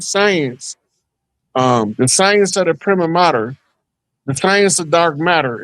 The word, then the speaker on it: prima materia: about this term, the prima materia. Prima matter. What Yeah. prima? How do you say it exactly? Because It's they say actually pronounced prima mater.